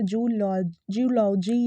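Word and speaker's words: zoology: इट्स नॉट जूलॉजी नहीं, क्योंकि यहाँ जू है एंड देन हम लॉजी इसको पढ़ते हैं, तो जूलॉजी या जूलॉजी नहीं होता है।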